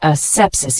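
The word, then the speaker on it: asepsis: sepsis a PS i s it's a noun pronounced a sepsis it means the state of being free from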